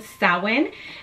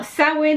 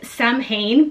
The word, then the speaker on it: Samhain: very first year celebrating sowin now sowin is spelled s-a-m-h-a-i-n so if you were to read it just like that it reads Sam Hayne but it's pronounced salid which is celebrated on